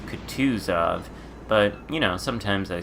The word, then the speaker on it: Kutuzov: enjoys or contused of ice where it is pronounced could twos of but you know sometimes I slip a lot of people say Cudas off but it's Kutuzov all right anyway most other ships don't have